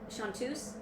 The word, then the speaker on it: chanteuses: CH. A-N-T-E-U-S-E-S. Looks like Chanteuses, but it's pronounced Chanteuse.